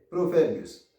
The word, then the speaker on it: Provérbios: Alors, il prononce comme ça, on dit proverbius. Au fond, on traîne sous vers là. Parce que c'est syllabe tonique là, c'est qui porte accent. On dit proverbius. Ta proverbius. Alors, pas dit bios. Ok, ou ka dit bios ou bien dit bius.